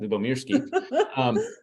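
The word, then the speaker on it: Lyubomirsky: I had to look that up, how to pronounce that, Lubomirsky.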